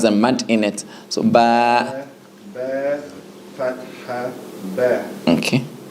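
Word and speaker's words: ب: So ba. Ba, Fatha, Ba, Okay. And no H sound. No H sound at the end.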